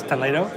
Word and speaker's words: Toledo: in your magic toledo it's spelled the same way as toledo but it's toledo t-o-l-e-d-o um tapas small